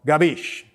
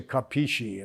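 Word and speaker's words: capisce: nothing drives me more crazy than when people mispronounce italian words like you know gabish that means do you understand and i had people say kapishi and i say what you know it's gabish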